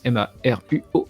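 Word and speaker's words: Maruo: donc s u ehiro Margot comme ça se prononce Emma Ruo et vous checker un petit peu ce qu'il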